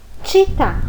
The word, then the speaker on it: città: Então, quando você vê escrito citar, a pronúncia correta é città.